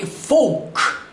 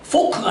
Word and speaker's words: folk: 그리고 met only ordinary folk. L이 발음이 안 납니다. folk가 아니라 folk.